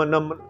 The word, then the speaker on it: नमः: कैसे होगी कि नम नम जैसे ओम नमः शिवाय ओम नमः शिवाय तो ओम नमः है मतलब उसमें विसर्गों में रुकना है छोटी-छोटी बारीकियां हैं और